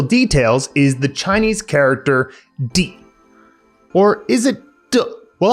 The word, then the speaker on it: 地: Is it di or de? Well, yes is the answer. Di is what's known as a duoyinzi, a multiple pronunciation character, and about 20% of Chinese characters have at least one other pronunciation.